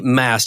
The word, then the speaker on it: Maast: well great well tell us about the company Mast I assume I'm pronouncing that correctly you got it right correct